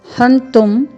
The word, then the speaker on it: हन्तुं: तस्मान् नार्हा, फिर है वयं हन्तुं, वयं हन्तुं, ह है, अर्धवर्ण न है, फिर पूर्ण वर्ण त में ह्रस्व स्वर है और ऊपर अनुस्वार लगा हुआ है, हन्तुं।